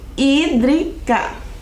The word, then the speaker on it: hídrica: olhe como se escreve se escreve com h né o h não tem som então começa o som do I hídrica o que será essa